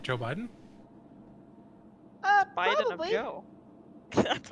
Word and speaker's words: Biden: Joe Biden.